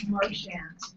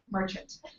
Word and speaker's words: Marchant: And Jackie Marchant. Not Marchant. It is very important to her Australian husband that it is pronounced Marchant.